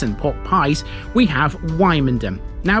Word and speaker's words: Wymondham: we have wyom now be careful how you pronounce that the pronunciation kind of helps in a way because thanks to it you shouldn't be confusing this with another place of a similar name in norfol we will be